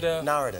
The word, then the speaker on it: Narada: Narada is it Narada Narada yeah like Florida you know Florida Michael Walden I've admired